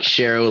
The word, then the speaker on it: Sharrow: to join you so i'm cheryl like sparrow with an h captain jack but not